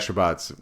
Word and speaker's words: Shabbats: Did I pronounce that one right? Yeah, you got Shabbats.